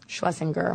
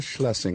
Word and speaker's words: Shlesinger: Is it Schlesinger or Schlesinger? Schlesinger. Okay, I've actually been saying it wrong.